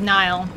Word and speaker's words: Nihil: I thought it was a Nihil, Nile, but it's apparently spelled pronounced like Nile. Like the Nile River.